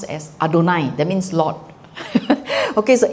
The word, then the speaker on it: Adonai: from right to left so Y HW Adonai pronounced as Adonai of We can pronounce as Yahweh in the past.